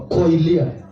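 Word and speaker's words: κοιλία: Hivyo tu inatamkwa koilia.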